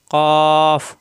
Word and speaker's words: ق: মাখরাজ জিহ্বার গোড়া উপরের তালুর সঙ্গে লাগাইয়া মোটা আকারে উচ্চারিত হয় কাফ কাফ জিহ্বার গোড়া থেকে কাফ সবাই খেয়াল করুন কাফ হরকত আসলে জবর আসলে ক আকার প্রকাশ পাবে না কই কু মোটা আকারে উচ্চারণ কই কু হরকত আসলে কই কু কই কু কৈকু এরকম উচ্চারণ হবে পাঁচ নাম্বার মাখরাজ জিহ্বার